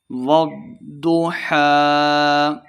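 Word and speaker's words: والضحى: کی 11 آیات ہیں۔ والضحیٰ، ضاد مشدد ہے، واو کو ضاد کے ساتھ ملا کے پڑھیں گے، ضاد کو موٹا پڑھنا ہے۔ والضحیٰ، وقف کر دیں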